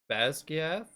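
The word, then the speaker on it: Basgiath: audiobook, it's pronounced Basquiat. Okay. However, it is a Gallic word, Scottish Gallic, not Irish Gaelic. Right. Mhm. And I believe, don't quote me on this because I've only seen like a girl explaining the pronunciations of it, but I believe she said it's like Basquiat Okay. or something close.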